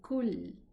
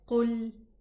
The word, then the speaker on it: قل: Okay, don't say kul. Kul is eat and qul means say. Okay, so it's qul.